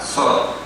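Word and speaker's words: צור: Y es Petros, no, en hebreo se pronuncia como Sor, T-S-O-R, porque tiene 3 letras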